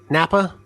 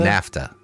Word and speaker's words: Naphtha: Napa? Naphtha? NAFTA. NAFTA. NAFTA? NAFTA. That's right, because it was NAPHTA. NAFTA. But like the free trade agreement pronunciation. But with PH.